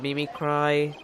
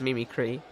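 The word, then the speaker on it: mimicry: It's a form of Mimi cry. Oh, wait. is supposed to be pronounced Mimikree. I feel like Mimi Cry sounds better.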